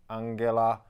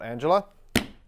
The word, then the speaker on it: Angela: she's Europe's longest serving leader that would be Angela Merkel not Angela okay Narendra Modi is coming from India he